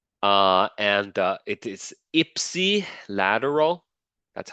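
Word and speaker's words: ipsilateral: the PowerPoint okay uh and uh it is Ipsy lateral that's how you pronounce it Ipsy and Contra lateral Ipsy lateral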